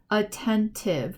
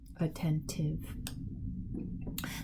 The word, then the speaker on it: attentive: opps collapse lore counselor attentive remember t i v e it looks like it's a silent e but t i v e almost always makes the sound tiff okay like active attentive this word is bumpy